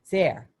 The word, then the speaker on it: Zare: so dr zarr zare sarah rhymes with care oh so she's a